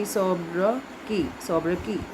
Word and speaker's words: sobriquet: So it will be Sobraki.